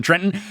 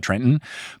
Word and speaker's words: Trenton: You can't pronounce the second T in Trenton.